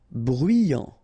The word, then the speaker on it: bruyant: Final X not pronounce e u E veux nerveux bruyant final not pronounced so you get bruyant ok bruyant bruyant ligne